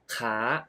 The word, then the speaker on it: ค้า: ลูก ค้า ขา ประจำ Oh you pronounce ค้า Which means to Trade with the high Tone ขา ขา and ขา Meaning Leg With The Rising Tone ขา ขา Well You can hear that คา and ขา can pronounce similarly but They Have different tones That indicate different meanings So Be careful This